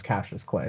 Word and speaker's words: Cautious Clay: cassius clay cautious clay spelled like cautious clay but said repeatedly in the album is captures clay so one of those